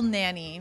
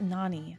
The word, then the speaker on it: Nani: at F tier because Nani is pronounced Nani not Nanny get it right bra